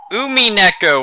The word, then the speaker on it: Umineko: everybody welcome back to let's play Umi neco when they cry that is actually the correct pronunciation using Japanese vows boo mean echo [